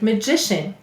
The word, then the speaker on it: magician: The suffix we added is IAN to make magician. Let's sound it out. M-A-G-I-Sh-A-N. Magician. Notice this also is saying its schwa sound, but in magic, you can hear it perfectly.